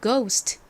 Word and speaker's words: ghost: gh 가장 앞에 왔어요 gh n 여기서 무슨 소리가 날까요 기억 소리가 나죠 그리고는 오 우어 아 소리 중에서 오 소리로 쓰였습니다 오 그리고 s n 시옷 소리 스 소리가 나죠는 티 소리 소리가납니다 발음해 보면 ghost 되는데요 한국식으로는 보통 고스트